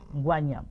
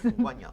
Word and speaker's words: Ngwanyam: I think I said it right. Ngwanyam. Yes. Ngwanyam.